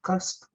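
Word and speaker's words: QAST: use uh coolbase key uh how does it pronounce it cast yeah cast uh so we currently use cast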